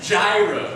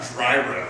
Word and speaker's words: gyro: engineering point of information gyro not dryo I said gyro it's kind of like Euro it could be pronounced